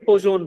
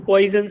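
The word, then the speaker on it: Poisson: और एक सबसे इंपॉर्टेंट एक और यहाँ पे मॉडुलस है, जिसको बोलेंगे पोजोन रेशियो, ठीक है। इसको पॉइजन रेशियो कोई नहीं बोलेगा, दिस इज पोजोन रेशियो। आई इसमें साइलेंट रखो, पोजोन रेशियो है।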